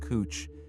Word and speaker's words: couch: The couch, pronounced cooch.